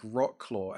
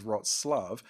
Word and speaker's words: Wrocław: It's spelled WROCLAW. I'm like, Wrocław, and I'm like, nope, the pronunciation of that is Wrocław, and I'm like, it looks nothing like that.